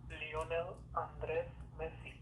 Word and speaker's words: Lionel Andres Messi: saying his name correctly, okay, this is the pronunciation of it. Lionel Andres Messi.